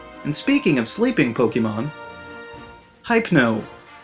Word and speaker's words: Hypno: And speaking of sleeping Pokemon, Hypno. Do you say hypnotize someone? No? Good, then his name is Hypno.